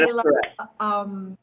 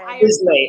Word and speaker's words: Islay: If there's an, is it Isla, Chris? If there's yes, an Isla, whiskey, good pronunciation. Too. I go for that right away. Yay! Oh, good. Thanks. See? Yes, but I have it's not Islay or Islay.